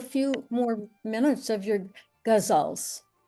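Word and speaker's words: ghazal: We'll do a few more minutes of your gazals. How do say say how to pronounce it? I've always heard it in India as gazle, but I don't think that's right. It's gazal.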